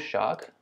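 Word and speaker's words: Jacques: name in English so basically it's called shark and it's the French equivalent of James so it's a boy's name 所以 shark 就是法语的、James 的说法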